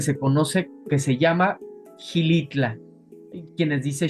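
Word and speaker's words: Xilitla: Hay un pueblo mágico que se conoce que se llama Hilitla. Quienes dice Shilitla, pero Gilitla no se escribe con X.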